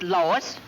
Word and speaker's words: Lois: the plant Lois Lois my name is Lois not Lois Dave why is everybody in tight believe me name wrong it's Lois L owe you I s Lois Louise Lucy now I'm